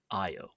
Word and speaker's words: Io: I mean, I suppose I should pronounce it Very fun. Io because that's kind of the more correct way, but we'll say Io Uh, for the heck of it.